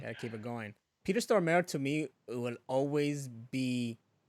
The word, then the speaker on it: Stormare: I Now they can't pronounce his name. Stormware? Stormare.